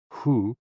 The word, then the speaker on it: hu: associated with the kidneys ho o o pronounced like who which is associated with